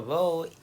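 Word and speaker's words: rho: write this Greek letter Ro r h o Ro that's how it's pronounced but it's written somewhat like a p so row that's the density is equal to M by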